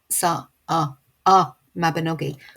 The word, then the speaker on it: Y Mabinogi: anybody like me, but actually she explains that actually it sounds like the U in sun, so it's sa Mabinogi, which means the.